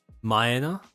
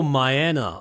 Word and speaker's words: Maya: It's Japanese pronunciation. Maya. Oh, Maya. Okay, Maya.